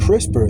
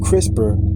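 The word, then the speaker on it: CRISPR: Gene editing and this crisper in particular is spelled c r i s p r technology enables precise altercations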